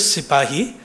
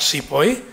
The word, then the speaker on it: sipahi: First of all, the word is sipahi, not sepoy.